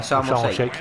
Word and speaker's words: Sharm el Sheikh: Oh yeah, Sharm el Sheikh. That's how you Yeah, pronounce it.